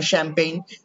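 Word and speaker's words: champagne: test হু শ্যারিও test এখানে কিন্তু সি এইচ ও শ্যা উচ্চারণ হবে যেখানে সি এইচ এ উচ্চারণ দেখবা যেমন শ্যাম্পেইন ওইখানে কিন্তু সি এর উচ্চারণ কখনো চল এবং ছয় হবে না সেখানে হবে শ্যা শ্যাম্পেইন তো শ্যারি ইউর টেস্ট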